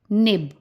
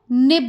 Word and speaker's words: निब: तो नि जमा ब, निब। जब भी आप ई की मात्रा का उच्चारण करेंगे तो आपने उसको लंबा नहीं खींचना है।